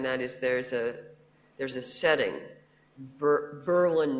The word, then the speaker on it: Berlin: Now, I did do one cheaty thing in this novel in that area, and that is there's a setting, Berlin, New Hampshire. Emphasis on the first syllable.